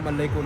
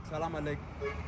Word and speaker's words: Salam alaik: Salam alaikum. No, Salam Alaik.